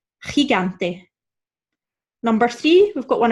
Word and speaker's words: gigante: G and I is our guttural sound, right? And G and A is the hard G sound. So we should really be saying gigante.